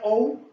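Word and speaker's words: owe: acción tú se pronuncia o fíjese que normalmente en inglés la u la e al final de una palabra no va a sonar Este es un caso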